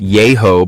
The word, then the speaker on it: Yahoo: Yahoo Falls and nearby Yahoo Arch with Yahoo pronounced yo by some local residents are scenic stops within the Daniel Boone National Forest in McCreary County, Kentucky.